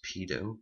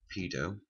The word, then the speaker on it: PDO: PHP function called PDO I pronounce it as pedo but you can pronounce however you want first we're just going